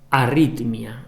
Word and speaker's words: arritmia: La gente a veces dice, tiene una arritmia, y que es ritmia, no es arritmia, que bueno, tiene una arritmia, no es una ritmia, ¿me entendéis? Bueno, la pronunciación es una arritmia.